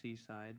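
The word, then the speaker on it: CSIDH: proposal based on isogenes called Seaside pronounced Seaside but it is written cidh and this proposal is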